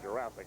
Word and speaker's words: Jurassic: behind you kind of beg your pardon on the pronunciation of Jurassic I'm sure Jurassic is correct we called it jurass Jurassic is the referred pronunciation there done a good